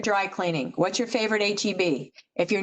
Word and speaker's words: HEB: HEB is initials, so I learned that also. You have to say it that way.